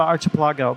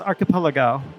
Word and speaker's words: archipelago: And that's how I kept pronouncing it, is the archipelago, but I guess it's pronounced archipelago.